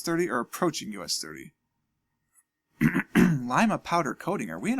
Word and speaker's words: Lima: in Ohio it is Lima so don't don't leave me leaving messages it's pronounced Lima which is true if you're talking about Peru but we're not we're talking about Ohio so it's Lima there's an exchange club